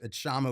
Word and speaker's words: Kshama: It's Kshama with a silent K, KS.